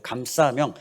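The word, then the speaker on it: 감사명: 살아야 될 삶의 구호인데요 감싸며 감싸명은 감사와 사명을 합친 줄임말입니다 사자가 두 개가 들어가니까 좀 세게 발음해서 싸 감싸며 감사와 사명을 합친 말이에요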